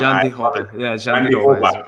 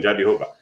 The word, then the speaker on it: Jandiroba: She's taking on Verna Jandiroba. Hopefully I said that right. If I said your name wrong, last name wrong, Jandiroba is correct. She's Brazilian, Jandiroba.